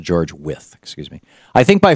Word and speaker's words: Wythe: As Jefferson wrote in a letter to George Wythe, his mentor in 1786, I think by far Actually, it's pronounced George With, excuse me.